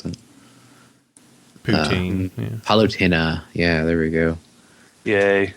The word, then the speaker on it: Palutena: Or Palutena, I'm not sure how you pronounce that. Poutine. Yeah. Palutena.